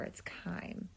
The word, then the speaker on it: chyme: chyme again a science we're going to use the ch like we did with trachea and bronchi um is going to be ch y in e and it's pronounced chyme i put the little